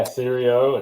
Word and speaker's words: Sirio: Yeah, Sirio.